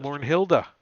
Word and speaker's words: Mornhild: Mornhilda. Mornhild, though, but not Mornhilda. Mornhild.